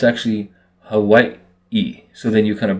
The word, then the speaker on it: Hawaii: the w for us so it's actually Havi and then you hear